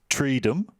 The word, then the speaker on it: Treedom: So there was Treedom, not freedom, and Intrevention, and maybe they've just told it intervention now.